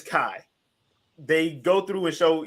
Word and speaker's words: Kai: thing to say um i apologize last week a spartan125 i said her name wrong her name is kai they go through and